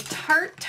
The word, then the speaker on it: Tarte: is the I gotta say it right the tart artist lip crayon and the color is in